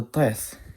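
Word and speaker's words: טית: So this is what the teth sounds like. Again, it is like the emphatic T that exists in the Arabic language.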